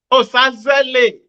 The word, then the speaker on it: Osazele: If you can pronounce Japanese name, you should be able to pronounce Osazele. I do, but you know, when I pronounce that right, I tend to put the Z first, right? Instead of yes, Osaze.